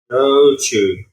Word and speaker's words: shochu: Shochu.